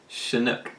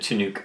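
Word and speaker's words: Chinook: today it's a weather I believe it's pronounced shinook shinook is that what I said you said chanuk oh okay and I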